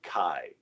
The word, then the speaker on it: chi: written as an x it makes the k sound and it's called kai the second letter makes